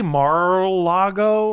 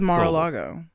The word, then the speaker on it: Mar-a-Lago: So I said, Mar-la-go. And then they play the little ding ding ding. Do you say Mar-a-Lago? I always thought Mar-a-Lago, like 4 syllables. I thought it was Mar-a-Lago.